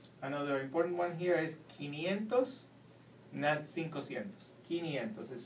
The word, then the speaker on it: quinientos: siento cincuenta another important one here is kinientos is spelled q u i quinientos these actually are two words another number that